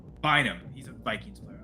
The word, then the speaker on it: Bynum: I'm going with Cameron Bryan. Cameron. No, say his name right. Bynum.